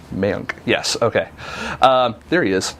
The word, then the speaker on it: Mayank: Mayank.